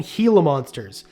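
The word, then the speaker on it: Gila monster: four beaded lizards and heila monsters heila monsters it is pronounced heila Monster by the way and Beed lizards are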